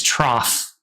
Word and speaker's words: trough: most common pronunciation is trough with an like F sound at the end.